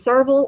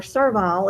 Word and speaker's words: servile: An antonym for that is servile or servile, as the Britons say, and submissive.